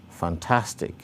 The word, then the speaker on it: fantastic: You can see the primary stress behind the syllable that receives the greater emphasis. So we have intention, fantastic, photo, geographic.